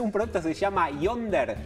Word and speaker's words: Yondr: producto que se llama Yonder. Así, como Tinder, pero con Y, Yonder, así como la misma pronunciación, que es muy sencillo.